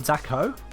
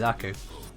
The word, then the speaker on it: Zaku: I said Zacho? Oh, Zaku. I never would have said Zacho. Definitely Zaku. Alright, let's head on through.